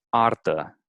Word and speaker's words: artă: It's like a rolling R. It is a rolling R, but not. It doesn't roll too much, like in Spanish, for example. It Okay. rolls sometimes. It seems to me like in Spanish it rolls a little more. Yeah, forcefully. Yeah, yeah, exactly. But here it's just kind of like a slight, R rolling.